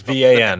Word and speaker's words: Van: Yep, It's VAN. It's spelled like the Yeah. van. the van.